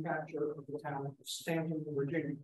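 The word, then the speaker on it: Staunton: of the town of Stanton, Virginia, which is pronounced differently from the way it's spelled.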